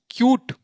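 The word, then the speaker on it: cute: ये क्या हो जाएगा सी यूटी ई यानी क्यूट ऐसे देखो यहां इसके नीचे भी देखो जैसे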